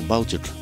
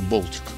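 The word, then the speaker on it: Baltic: рамках болтик ралли вот нас почему-то Балтик говорят ралли Но на самом деле если правильно произносить это болтик Я думаю этого даже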